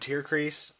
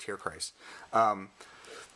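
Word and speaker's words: Tierkreis: Suicode and Tear Crease. Hey, it's my last name. Tear Crease, Crease. I keep saying Crease. Christ. Correct pronunciation is Christ. Tear Christ.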